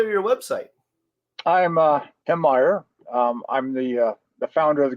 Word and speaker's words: Meyer: And you pronounced right. It's Meyer.